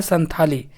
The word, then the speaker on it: संथाली: और पढ़ाता है संथाली। ठीक है ना? और इंग्लिश में लिखा आता है सन ताली यानी ता ता ता का उच्चारण होता है मतलब ता वाला लिखाता है और पढ़ाता है था ठीक है ना दोस्तों